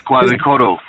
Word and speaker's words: Quetzalcoatl: Let's see if Noble Moso can get that pronunciation for us. That's Quetzalcoatl.